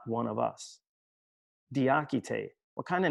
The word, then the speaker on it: Diakité: not one of us diachite what kind of name is that asked the cashier at a department store in new york only she pronounced it like the architect the akitay comes from the fula people